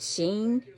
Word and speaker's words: Shein: I think you pronounce it Sheen. I don't know. It's Shein.